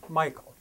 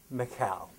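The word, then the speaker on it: Michal: these Royal wives looks like and is often pronounced Michael but in Hebrew with more like Macau she's introduced in first Samuel 14 as the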